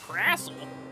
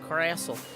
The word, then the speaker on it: Crassle: It's like, it rhymes with castle and wrestle. Yes. But it's a Crassle because I think it's, like, a little bit crass.